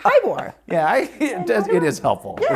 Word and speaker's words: Heyboer: Heyboer. Yeah, because that's how it's spelled. It's actually Heyboer, and so it's Okay. like saying hi to a boar, and Okay.